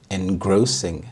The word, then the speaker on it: engrossing: Engrossing, engrossing. The stress is on the second syllable, engrossing, and this means absorbing all of your attention.